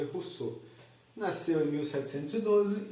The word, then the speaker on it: Rousseau: Se escreve Rousseau, mas se lê Rousseau.